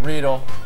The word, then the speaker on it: Riedel: These glasses, how do you pronounce that? Riedel? Riedel.